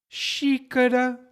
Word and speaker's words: xícara: No começo das palavras, normalmente tem som de sh. Xícara, como a xícara de café.